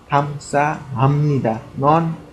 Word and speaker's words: 감사합니다: Pronounce it correctly. 감사합니다. 감사합니다.